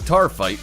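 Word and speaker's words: taaffeite: number 7 car fight if you haven't heard the word tar fight you're not alone and it's spelled a lot weirder than it sounds the precious gem is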